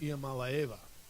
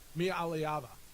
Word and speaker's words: Iamaleava: It's on the Tennessee UCLA quarterback, Nico Iamaleava.